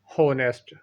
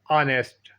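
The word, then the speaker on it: honest: गलत प्रोनाउंसिएशन है होनेस्ट, correct pronunciation ऑनेस्ट। Repeat after me, ऑनेस्ट।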